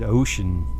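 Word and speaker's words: Wouxun: a company called wojoun it's spelled w o u x u n and like nancy i think they pronounce it ocean in china like going to the ocean so i'm not even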